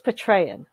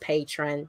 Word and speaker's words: Patreon: I always thought it was Patreon. I've always said Patreon, and then okay. you're a patron. It's like the extra sure. E is there. It's really just patron.